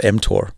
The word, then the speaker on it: mTOR: you talk about before yeah you're pronouncing it correctly it's called mtor okay m stands for